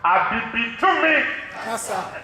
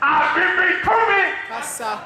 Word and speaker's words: Abibitumi Kasa: It's spelled exactly how it sounds. Abibitumi Kasa. Abibitumi Kasa.